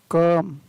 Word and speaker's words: come: ई आया है, लेकिन यहाँ पर उसका उच्चारण है वो ओ ना होकर क्या होगा, अ होगा। COME, कम, कम, COME, शम, DONE, डन, NONE, नन।